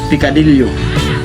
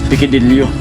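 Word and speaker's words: picadillo: Basta iba po yun sa pikidilyo kasi yung pikidilyo may ano may tali sa ibang ano yung pinakangpronounce niyan pikadilyo dito kasi pikidilyo sa may nila ano yan pikadilyo ag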